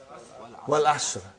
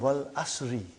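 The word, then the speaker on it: والعصر: Wal Asr. Have you ever noted down what is written there? It's called Wal Asri. It's majroor.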